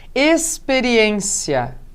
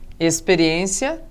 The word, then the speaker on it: experiência: Experiência tem som de S.